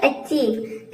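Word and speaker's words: achieve: rule number चार है यदि ई आई ई और ई आई एक साथ आ जाए तो आई ई और इ आई को हम ई प्रोनाउंस करेंगे यानी कि बड़ी इ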